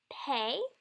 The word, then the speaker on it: pe: Pay is pronounced like P, as in paint.